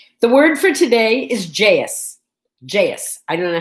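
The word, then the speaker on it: jayus: of time already the word for today is jais jais i don't know how else you'd pronounce it it's j-a-y-u-s it's an indonesian word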